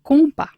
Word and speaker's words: compas: d'accord, y ya sabes que la S final no suena. Sí. Un compas.